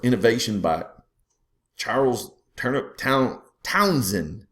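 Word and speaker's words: Townshend: um invention or innovation by Charles turnup Town Townsen not townin everybody wants to pronounce that H for God's sakes you know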